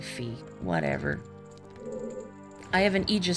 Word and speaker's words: Fi: I I know it's I think it's pronounce fi but I always say fee whatever I have an